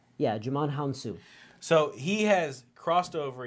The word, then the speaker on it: Djimon Hounsou: you realizes this guy yeah you're gonna just pronounce his name huh his name is Djimon Honsou yeah Djimon Hounsou so he has crossed over he was in